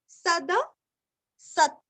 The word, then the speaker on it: सदसत्: धर्मी धर्मगुप्त धर्मकृत धर्मी सद सत सद सत स के ऊपर आघात है सदसत सदसत क्षर सदसत क्षर